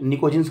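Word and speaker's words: pnictogens: मतलब इस ग्रुप के एलिमेंट्स हैं, पी साइलेंट होता है, निकोजिन्स कहते हैं।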